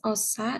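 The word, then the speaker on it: -osa: Akhiran minus osa digunakan Min, dalam tata nama. jadi bacanya akhiran osa gitu. Oh, nggak usah minnya ya.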